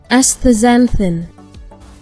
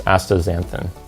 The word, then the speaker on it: astaxanthin: best here, but I'll show you the proper pronunciation real quick. We'll get some help from Google. Canthaxanthin. Astaxanthin. So the first is Canthaxanthin, and the second is Astaxanthin.